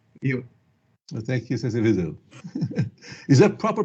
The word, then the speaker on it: Viseu: Well, thank you, Sensei Vezu. Is that proper pronunciation? Vezu or Vezu? The right pronunciation is Viseu. Viseu. Viseu, because it is a city of Portugal where my grandparents came from.